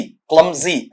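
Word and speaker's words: clumsy: उसका उल्टा होता है भद्दा, बेहुदा, बेढंगा, क्लमजी, क्लमजी ऐसा पढ़ा जाता है। इसका उच्चारण ढंग से सुन लेना, इसे अपन पढ़ते हैं आपका क्लमजी, बेहुदा, भद्दा वाला।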